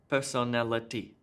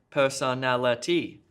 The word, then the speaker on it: personality: it with even stress on each of the syllables like robot or fantastic fantastic fantastic helicopter personality it's it's strange for me because I come